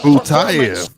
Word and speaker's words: Butayev: Ramzan Butayev with a brilliant Butayev. That's how you say it.